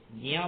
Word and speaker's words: ज्ञ: संयुक्त व्यंजन है, जकार और यकार को मिलकर के ज्ञा बना, इसलिए मैं इसको ज्ञा बोलता हूं। आप लोग ज्ञा बोलते हो, मुझे आपत्ति नहीं है, लेकिन सही शुद्ध उच्चारण यह है, जा और या है तो ज्ञा ही होना चाहिए।